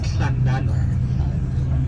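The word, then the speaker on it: Llandudno: They said no, it's Llandano.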